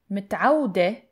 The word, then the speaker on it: متعود: متعودة, متعودة is for the singular feminine. And for the plural, متعودين, متعودين. Pay attention to the pronunciation. متعود, you stress on that W sound.